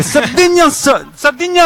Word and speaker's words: Sardigna: Il prossimo pezzo parla di Sardegna e si chiama Sardigna Rock, però pronunciato in sardo, io non sono sardo. Dei Knusasso. No, aspetta, ce l'avevamo preparata a casa. È Sardigna Rock.